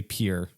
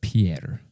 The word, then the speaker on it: Pierre: You say Pierre. Yeah, instead of Pierre.